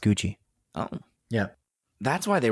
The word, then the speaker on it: Gucci: yeah that's why she doesn't say gucky oh okay you learn something every day adrian yeah something every day but uh yeah i thought she was just making fun of italians and how they pronounce gucky but i guess i'm